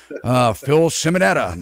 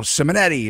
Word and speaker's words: Simonetta: real estate broker, Simonetta. And some people call me up and they want to say his name is Simonetti. Are you going to have that Simonetti guy back on?